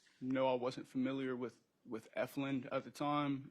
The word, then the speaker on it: Efland: Can't really say word for word, but I know I wasn't familiar with Efland at the time. I was mispronouncing it. And yeah. What'd you call it? I want to say Efton.